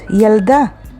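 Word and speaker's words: ילדה: And yalda. Yalda is a girl, and it is spelled with yod, lamed, daled, hey, yalda.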